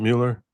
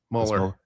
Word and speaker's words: Mueller: It's not Mueller. Mueller. Are you sure? I'm pretty sure. Does he spell it differently than you? He does. He spelled it the same way as me. He spelled it the same, but he pronounces it differently.